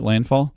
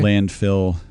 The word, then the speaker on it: Landfall: Is that how you say it? Landfall? Yeah. Landfall. I think I accidentally called it something else. Oh, that's okay. Landfill. No. I know.